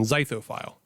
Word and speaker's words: Zythophile: And this was published on Zythophile. Thank you for pronouncing that correctly.